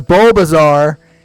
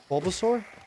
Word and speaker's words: Bulbasaur: How do you say it? Bulbasaur. What are we talking about? Obama or Bulbasaur? Bulbasaur. Pulsaur. Bulbasaur. Bulbasaur. Like a Tyrannosaurus.